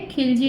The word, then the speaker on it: Khalji: में second dynasty है खिलजी dynasty या खलजी डायनेस्टी, कुछ भी अपन जैसे भी प्रोनाउंसिएशन का तरीका होता है वैसे बोल दो।